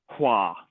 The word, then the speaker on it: Hvar: We spent like a whole week in Croatia on the island of Hvar, but it's pronounced Hua.